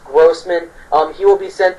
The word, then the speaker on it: Grossman: Um Robbie um Gman Grossman, I know his name has been mispronounced, but it's pronounced Grossman.